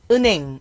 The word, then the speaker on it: 은행: 볼까요 여기 보시면 어 앞 글자에 받침이 니은 미음 이응일 때 뒤에 있는 히읗 소리가 약해져요 약해진다는 거는 약화된다 그래서